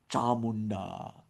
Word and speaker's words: Chamunda: If you say it correctly and obviously I'm not saying it as perfectly as one might but with the tongue striking the upper pallet chand chandika chamunda one